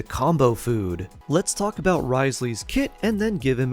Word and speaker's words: Wriothesley: need a Healer next on the list is Risley the cryo Punchy Jailer with a name that